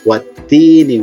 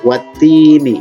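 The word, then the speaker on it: وَالتِّينِ: Contohnya yang ini, wattini. Ini hurufnya apa? Hurufnya adalah ya. Ini hurufnya adalah ya mati. Dibacanya berapa harakat? 2 harakat. Wattini.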